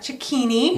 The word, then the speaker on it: Cecchini: His name is Brett Cecchini.